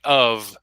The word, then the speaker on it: of: but the problem is off uses the F sound of uses the V sound now of course it's